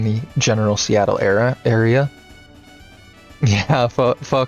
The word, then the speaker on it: pho: And for those of you who don't know, who haven't had it before, yes, that is pronounced pho.